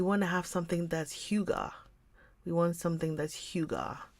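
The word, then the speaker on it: hygge: to have something that's Huga we want something that's Huga Huga is spelled h y g g g e but then the feeling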